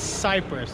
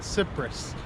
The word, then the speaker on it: Cyprus: bad I am in Limassol Cyprus it is Cyprus is not tsipras I looked at the pronunciation I heard other people here in Cyprus